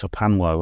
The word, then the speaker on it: HPANWO: It's pronounced Hapanwo, and that's basically my main website.